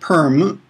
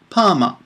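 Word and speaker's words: パーマ: be careful with this it's not perm it's p Pama and if you want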